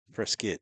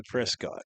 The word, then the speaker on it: Prescott: Prescuit. Yeah. Down here in the south. You got to say it right. They don't say Prescott.